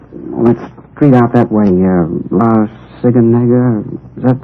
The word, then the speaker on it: La Cienega: Over on, that street out that way, La Cienega. Is that how you say it? Oh, La Cienega, yeah.